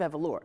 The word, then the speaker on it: Evoluer: Now tell our viewing and listening audience about the Evoluer House, the House of Evoluer. That's the correct pronunciation.